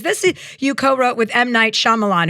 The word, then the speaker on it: Shyamalan: you co-wrote with might Shyamalan, who I used to call might Shakan until I could figure out how to pronounce his name properly.